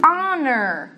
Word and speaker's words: honor: Tem Mas, existem palavras onde ele é mudo. Você não ouve, você não pronuncia o som do Então, essa palavra, hour, honor. Hour, que é a hora.